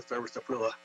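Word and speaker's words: styraciflua: And these trees, these are liquid amber trees, American sweet gums, or liquid amber thurberstaflua, that's the pronunciation.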